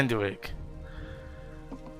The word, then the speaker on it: Anduik: But they would Visual Sunseeker would kill Anduik, or how do you say his name again? Anduik. Is it Anduik? Yeah, Anduik.